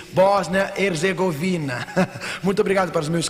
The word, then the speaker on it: Bósnia Herzegovina: eu fiz esta pergunta como se pronuncia ele me disse Bósnia Herzegovina Muito obrigado para os